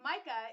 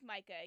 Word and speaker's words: Mika: So it's like Micah if you're British. It is like Micah, yes. I think Micah is probably how it was intended.